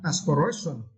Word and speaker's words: aspiration: And for the next word, right, aspiration. And for this word, you need to straight the third syllable.